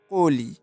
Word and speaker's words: কলি: তেমন কলি, কলি আমরা লেখার সময় ঠিক এইভাবে লিখি আর উচ্চারণের সময় কতে ওকার চলে আসে, কলি।